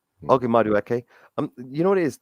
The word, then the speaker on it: Madueke: Can you pronounce that? Maduk, go on a freeze beyond me. Doing well at PSG. Madueke. Okay, Madueke.